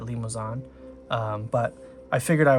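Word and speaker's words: Limousin: I assume it sounds it looks like it's spelled like it's French, so I think you would pronounce that limoan.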